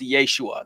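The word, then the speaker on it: ישוע: you who don't know Jesus's name in Aramaic would have been pronounced Yeshua that's what his friends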